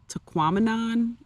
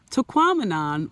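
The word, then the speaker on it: Tahquamenon: another cool destination was taquan rhymes with phenomenon taquon Falls that was another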